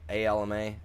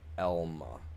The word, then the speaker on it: Alma: I I live in a town called Elma. A L M A and it's it's pronounced Elma, not Alma.